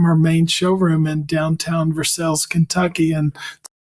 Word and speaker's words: Versailles: the street from her main showroom in downtown Versailles Kentucky and spelled like Versailles France but it's pronounced the Kentucky wave Versailles my brother Patrick and I Patrick still works